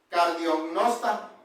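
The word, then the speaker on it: καρδιογνώστης: Ya habíamos estudiado eso que es el decía que en el griego se pronuncia cardionnosta, o sea, que Dios conoce el corazón.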